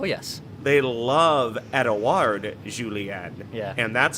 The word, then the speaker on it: Julien: I love your uh Julien is that the Ross Brendle uh Lakeville French coming coming through right here on the scorner ex Innings podcast I feel like that's the Canadian pronunciation of julienne and I uh quick